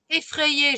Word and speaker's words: effrayé: Effrayé, le Y, c'est comme si j'avais deux I. Un premier I qui se prononce avec A et l'autre I qui se prononce avec le E, qui fait effrayé.